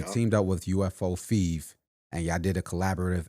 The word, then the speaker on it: Fev: So it'd be Fev. like fever, but like Fev.